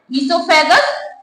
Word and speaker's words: oesophagus: Number first mouth, number second फायरेक्स, third ईसोफेगस, ओ silent रहता है ईसोफेगस, fourth stomach, 5 small intestine, 6 large intestine, 7 anus.